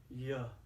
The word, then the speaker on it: Yah: word of your notice i say yeah yeah like in hallelujah hallelujah is a hebrew